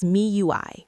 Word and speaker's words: MIUI: This was Miui, pronounced Mi UI by its creators.